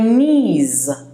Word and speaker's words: knee: go on to your knees this knees it's not Kelly's the K is silent even though it is written k-n-e-e but it's knee or knees okay and what puts